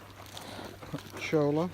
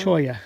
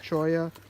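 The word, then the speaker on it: cholla: True Mojave Desert survivors, Chala, top pocket for me, Chola, how do we pronounce that word? Choya. Choya, Joshua trees, Mom's got one, lizards, and hawks remained, adjusting to diminishing water.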